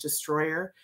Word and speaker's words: Distroller: destroyer uh it's spelled just stroller but it's pronounced destroyer and it's such a misnomer because it sounds